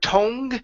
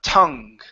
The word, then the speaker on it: tongue: vowel sound wise okay instead of toned it is uh uh tongue tongue yeah good good so showing it to her on his tongue showing it to her and his tongue yeah is it a ha uh is the schwa tuhhh tongue tongue good showing it